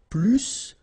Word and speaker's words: plus: And so the last structure, if you want to compare with a verb, then in that case, remember, plus will be with the S. So pronounce it plus que.